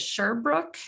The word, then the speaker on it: Sherbrooke: Is it Sherbrooke? I want to make sure I'm pronouncing that correctly.